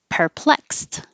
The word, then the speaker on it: perplexed: think that's very confusing perplexed the X letter is a k and an S and the e d ending sounds like a t so all of this is this perplexed you look perplexed Grudge the dge is